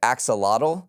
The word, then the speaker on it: axolotl: So in 2021, I think I'm pronouncing this correctly, it's the axolotl.